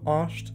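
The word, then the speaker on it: asht: Es gibt viele Wörter, oder auch er, sie, ist, schreibe ich mit einem A, also oscht wird es ausgesprochen, aber ich schreibe es mit einem A, andere schreiben es mit einem O.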